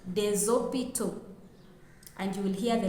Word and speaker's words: des hôpitaux: using a definite article, we will say les hôpitaux. And the last S in les is pronounced as Z. If we are using the indefinite article in plural, we will say des hôpitaux.